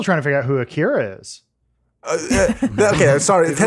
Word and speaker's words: Akira: I Sometimes when I say Akira, which is the Akira. actual pronunciation, people yell at me.